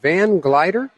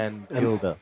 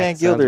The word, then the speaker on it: Van Gilder: Is it Van Glider? Yeah. Gilda. What? Van Gilder. Van Gilder. Oh, Van Gilder.